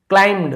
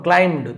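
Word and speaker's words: climbed: नहीं बोलते, वैसे ही क्लाइम्ड, मैं ब को नहीं बोल रहा हूं, क्लाइम्ड, तो यहां पे बी साइलेंट हो जाता है।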